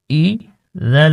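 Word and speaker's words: إِذَا: শিখবো প্রতিটা ভিডিওতে চলুন বিসমিল্লাহির রাহমানির রাহিম হামজা ই জাল আলিফ জবর ই জিম আলিফ জবর জ হামজা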